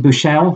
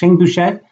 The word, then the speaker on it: Buechele: But in that game, the final play, the freshman quarterback, Shane Buechele, I think is how you pronounce his name, or Boucher. Shane Boucher, I think it is, dropped back.